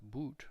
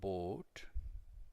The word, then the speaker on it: Boot: movie perhaps das bolt it's not pronounced boot but bot two o's together is